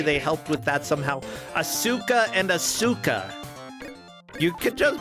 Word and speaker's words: Asuka: I mean, it would be Asuka. Okay, like, the U is still there, but you're right. The emphasis is not on the U.